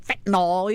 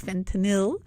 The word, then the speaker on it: fentanyl: It's not fentanyl either. It's fentanyl.